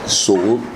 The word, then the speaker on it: Tsoule: My name is Tsoule. A lot of people tend to use different, because of the way the name is spelled, Tsoule, the T is silent, you know, and who is Tsoule in the 2018?